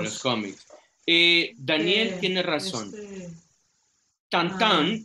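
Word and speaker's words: Tintin: Tantan, que así se pronuncia en francés.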